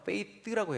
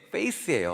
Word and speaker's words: faith: th는 혀를 앞으로 대야 돼요. faith라고 해야 되는데 제가 발음이 미숙했던 것 같습니다. 그러니까 믿음을 얘기했는데 애들은 목사님, 전도사님 얼굴이요? 그러는 거예요. face로 들은 거예요. 그러니까 이게 face예요. 얼굴이에요. 근데 저는 faith로 믿음이라고 발음을 했는데 그 미국 초등학교 다니는 아이들은 그게 얼굴로 들린 거예요.